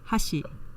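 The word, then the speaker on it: 箸: So, if you've got a particle afterward, for something where the accent is on the first mora, like the word for chopsticks, maybe that's the most straightforward, right?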